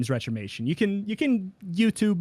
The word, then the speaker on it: Retromation: that actually don't retromation it's it's how it sounds you can find i